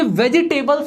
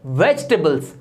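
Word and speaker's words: vegetables: ये वेजिटेबल्स नहीं होता, ये होता है वेजिटेबल्स।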